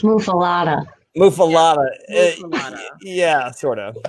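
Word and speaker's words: muffuletta: But yeah, And it's pronounced muffalata.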